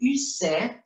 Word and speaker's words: Ussé: El castillo de Ussé, así se pronuncia en francés, es el castillo donde